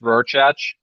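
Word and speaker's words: Rorschach: was going to say so that's pronounced rorchatch that's real chance number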